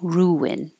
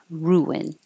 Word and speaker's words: ruin: rural so roll roll ruin this one your lips go small for the U and then back for the is so it makes a invisible W ruin ruin Three Needs air flow